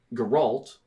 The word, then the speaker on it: Geralt: I know Geralt, Yeah. which I found out I was pronouncing wrong until the show happened.